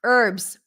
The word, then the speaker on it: herbs: our good not pronounced herbs well done in American English the H is not pronounced in the word herbs o honesty good Victor